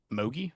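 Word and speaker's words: Mougey: Like Darren Mogi, is how you pronounce it for the Jets. Mahogi.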